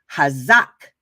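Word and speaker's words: חָזַק: It is pronounced hazak, right?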